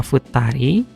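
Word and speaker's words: 二人: Jadi satu dan 2 bintangnya cara bacanya hitori sama futari.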